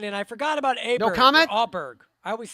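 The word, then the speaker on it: Åberg: he says it but but ludig told everybody because the pronunciations were just brutal he just said just call at me o Berg but but Daniel told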